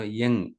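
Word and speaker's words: Ljung: see that um so usually they pronounce this one as you know young right so young box and or sometimes they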